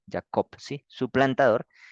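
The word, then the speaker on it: יעקב: y la aquí cop y termina en B ya cop sí su plantador Y esa es el significado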